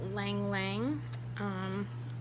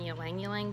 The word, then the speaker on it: Ylang Ylang: we are here to talk to you about lang lang I know some people who pronounce that one yelling yelling but I'm pretty sure that why is silent